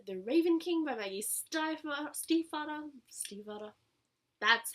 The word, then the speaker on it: Stiefvater: Then I read The Raven King by Maggie Stiefvater.